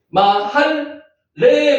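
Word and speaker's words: מחלה: 할 요거는 중간에 라면가 들어가면은 양쪽 다가 발음이 납니다. 마할레 발음 나죠.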